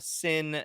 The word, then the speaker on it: Cin: Sin is spelled C-I-N, like cinema, you know. See what you did there. C, a soft C.